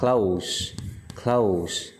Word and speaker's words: clothes: áo chỉ chung Gold cái chữ này phát âm giống hệt như động tự đóng lại luôn Close close Ok Danh từ là quần áo Ừ Từ nay phát âm Đồng nghĩa chữ lượng từ đóng lại đóng close Open close hai chữ này phát âm giống hệt nhau luôn Tuy nhiên nghĩa khác